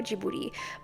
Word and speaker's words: Ghibli: you want to pronounce it like someone from Japan it's Studio jouti but since I'm not Japanese I'm going to stick with jibli now on to the